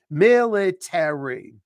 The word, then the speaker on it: military: when you say military that a r y at the end is pronounced as an e as an egg military I have to help